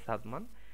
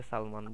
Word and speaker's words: সাদমান: কারণ আমার নামটাই ধরেন, আমার নাম হলো যে সাদমান, অনেকে সালমান বলে, অনেকে হলো যে কি জানো, হ্যাঁ এরকম হলো যে সালমান, সাদ্দাম, বিভিন্ন জনে বিভিন্ন জিনিস বলে, আর সঠিকভাবে উচ্চারণ করতে